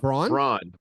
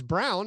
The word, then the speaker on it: Brown: Oh well, I mean, a lot of people doing the phonetic of Braun. Yeah. Well, that's what I thought it was until someone told me it was Brown.